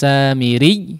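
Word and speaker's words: السامري: Samiri jangan dimatikan ri. Nah, tidak, tapi tetap mengalirkan suara ya. Meskipun di awal menekan samiri ri.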